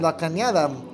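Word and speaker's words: La Cañada: oh brandon ponce i i just thought it was like canada it's over the end so it's they are from california about 30 minutes from los angeles thank you brian ponce canada canada la canada i really apologize when i saw the text message i thought i was just like canada apparently not la canada is the correct pronunciation they are tied five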